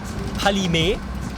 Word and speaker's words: Kpalimé: It's called Kpalimé. We don't really pronounce the K.